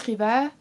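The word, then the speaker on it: Rivaz: écrit tout comme Alice Riva, je crois qu'on prononce pas le Z, on m'a dit il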